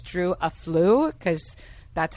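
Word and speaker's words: Afualo: I always say Drew Afuelo, but it's Drew Aflu, because that's how you pronounce it on TikTok.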